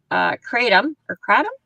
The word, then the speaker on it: kratom: So, right now, to finish up our article, unlike cannabis and, kratom, did I pronounce that properly?